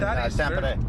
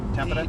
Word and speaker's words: Tampere: So is this common, or is this up in Tampere? That is very common. Tampere? You know, how do you pronounce it again? Tampere? T-A-M-P-E-R. Pronounce it. Spell it. Tampere.